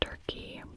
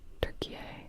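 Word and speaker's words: Türkiye: Their official name is now Turkey. Turkey, which I'm pronouncing in a very American accent. Turkey. And it has a little u um I don't know if it's called an umlow in their language, though.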